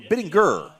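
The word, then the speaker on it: Bittinger: Welcome back everybody to Biddinger Stadium, Biddinger Stadium or Biddinger would be the correct pronunciation.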